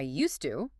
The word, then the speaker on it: used to: the positive sentence, I used to, you have a D sound followed immediately by a T sound. Used to. Mm-hmm. In a normal, fast conversation, we do not pronounce those two sounds separately.